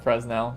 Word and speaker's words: Fresnel: Yeah, I know the S is silent in Fresnel.